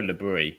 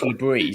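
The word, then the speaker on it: Le Bris: Because I prefer Lebris. Well, I'm calling him Lebris because he's French.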